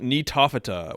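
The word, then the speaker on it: Gnetophyta: widespread to begin the phylum netofita with a silent G there are three General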